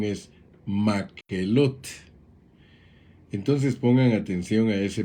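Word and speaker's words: Makhelot: más elote que en el idioma hebreo se pronuncia makelotte como ya vimos y podemos ir notando hay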